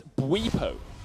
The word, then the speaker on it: Bwipo: It's Bwipo. Bwipo. Yes. With a little W-E in that middle. Oh, so Bwipo. like we. Yeah, Bwipo. Like we, like us.